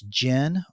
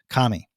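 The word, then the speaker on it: 神: Chinese or onomi readings we can pronounce this Ki as Jin or Shin with the kunyomi or Japanese reading being of course Kami now this Japanese word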